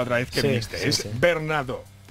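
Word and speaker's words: Bernardeau: Es Bernardo. Bernardo. Porque como, como te dije la última vez, es como en francés.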